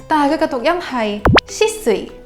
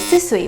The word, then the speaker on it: 酒々井: pronunciation For example, the Shisui Outlet that Hongkongers love to take a trip before leaving Tokyo Although it is written as “酒々井” the pronunciation should be “しすい” (shisui) but not “すすい” (susui) Please be aware of